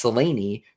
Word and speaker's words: Selene: Um and uh one of the ways in which this is manifested is the Seleni uh pronunciation argument. Um because it's Seleni, right?